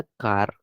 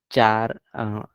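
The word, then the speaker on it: char: तो बाद में पता चला कैर बोलते हैं इसको, कैर, कैरेक्टर का कैर कर दिया।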